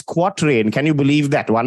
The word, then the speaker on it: quatrain: quart rain all right I call them Cortes it's easy to pronounce actual pronunciation is quatrain can you believe that